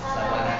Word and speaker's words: sabana: kekuningkuningan ini namanya Sabana kalau orang Inggris bilangnya sapana kalau di Indonesia bacanya Saba Sabana tingal diganti B aja jasbana baik dari yang